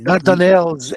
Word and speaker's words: Dardanelles: Dardanelles is how it's said in English. Dardanelles. Okay, that's the Dardanelles. Okay, Dardanelles and in Greek too is the same.